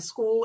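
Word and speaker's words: Skool: It's on the school platform and school is spelled sk o l.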